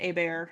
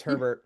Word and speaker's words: Herbert Lom: We have um uh I'm sure it's pronounced Abear and not Herbert Lom. Yeah. No, it's Herbert. Oh, okay. Never mind. He was He was He was He's English. It's Herbert.